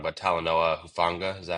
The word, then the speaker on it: Talanoa Hufanga: So like the two in free agency that jump out to me are, I don't want to say his name wrong, but Talanoa Hufanga, is that how you say Yeah.